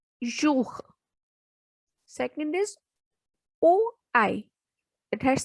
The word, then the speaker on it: jour: Next is OU. It has sound U. So the word is jour.